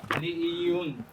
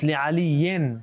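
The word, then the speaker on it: لِعَلِيٍّ: Like he wants to know why it was Li'iyun, not Li'ayi. No, it's li'aliyin. Yeah, he wants to know why in, not E.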